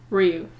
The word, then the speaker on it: Ryu: Ryu.